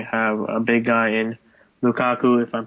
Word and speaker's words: Lukaku: Everton, obviously, they definitely have a big guy in Lukaku, if I'm pronouncing that right.